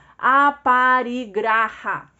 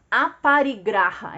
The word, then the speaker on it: aparigraha: cobiça voltando aqui então aparigraha aparigraha é exatamente como se escreve como se fala É como se escreve tá aparigraha que a justamente isso